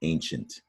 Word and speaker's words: ancient: and use the word ancient. It has the same ending, C-I-E-N-T. Insufficient, ancient. Right? So for some reason, we pronounce that with a sh.